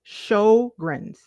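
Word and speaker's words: Sjögren's: Okay, CG says Venus pronounced it Sjogren's.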